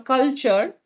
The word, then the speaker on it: CULTUR: If we move on to the next one, this is called AR Vision or CULTUR or Culture. That's how it's pronounced.